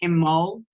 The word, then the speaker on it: Imbolg: Blessings to you, this Imbolc or Imbolg or Imbolc. So people pronounce it different ways. The traditional ways is Imbolg, which is I-M-O-L-G is how it's pronounced.